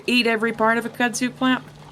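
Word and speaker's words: kudzu: of a CSU plant oh it's CSU I've been saying it wrong this whole time that's awkward I'm saying it wrong no it's I'm going to defer to you it's kudu well kudu is like an Asian plant and I reckon that all of us who say the word re can say it wrong uh that's means we're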